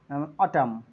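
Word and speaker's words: autumn: সেক্ষেত্রে N silent হবে যেমন এই ইউ টি ইউ এম এন তো এখানে এম এর পরে এন আছে সো এন সাইলেন্ট হয়ে যাবে অটাম ডাম সলেম খলাম ওকে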